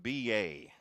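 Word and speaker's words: Beya: Pronounced B.A. Spelled B-E-Y-A.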